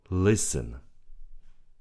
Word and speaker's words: listen: Listen. Listen. The T is silent. We don't say listen. We say listen.